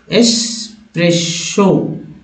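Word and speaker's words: espresso: तीसरा में सभी में लोग जो है एक्स का उच्चारण करने लगते हैं, एक्स एक्स ये जो है वर्ड्स उच्चारण में अपना लिया आता है जो कि गलत करते हैं।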